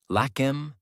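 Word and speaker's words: Lakmé: It was given a French name Lakm. It meant the goddess of wealth, Lakshmi, pronounced the French way.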